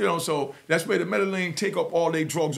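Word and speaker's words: Medellín: That's when the Medellin, as my man Johnny the Connect taught me to pronounce it, because Machatin on Jamaica, some of us call it Medellin.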